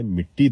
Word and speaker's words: مٹی: جی ہاں، جیسے ہم لوگ مٹی کو مٹی بولتے ہیں، جو کہ غلط ہے، مٹی درست تلفظ ہے.